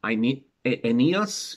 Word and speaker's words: Aeneas: At the bottom left, we've got Aeneas, pronounced Aeneas in the Greek of the time.